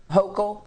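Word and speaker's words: Hochul: we'll we'll learn her name uh yeah yeah hoco okay there it is um and more people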